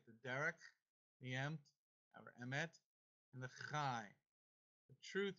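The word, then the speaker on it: אמת: Emmet. Emmet. Everybody say Emmet. Emmet. That is the word truth, because Yeshua said, I'm the way, the truth, and the life. The Derek, the Emt, or Emmet, and the Chai.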